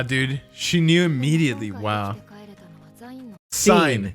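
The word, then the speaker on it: Sein: she knew immediately wow sign not Stein SE rewind it just a touch let's see how she pronounces it sure we're terrible at this dude I know it's so funny sign sign okay 29 years after death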